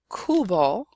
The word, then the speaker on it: cubo: So in the word cubo, por ejemplo, a word for bucket, you have the hard k sound, and claro, which means clear or of course.